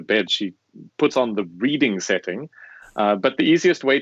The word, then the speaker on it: Reading: story about because i i learned that reading is how you say it in the uk and the reason that i know this because it's written like reading and the reason i